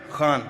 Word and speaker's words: Khan: Karan, I watched My Name is Khan the other day. Khan, am I saying it right? Khan from the Epiglottis.